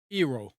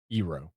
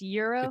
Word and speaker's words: Eero: Eero, Eero. double ERO. Are you sure it's not pronounced Euro?